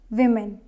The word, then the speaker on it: women: stressed desert desert now next word is women not woman it's women first syllable is stressed woman no it's not correct and this one is woman woman not woman or woman so it is singular singular is woman plural is women so I hope you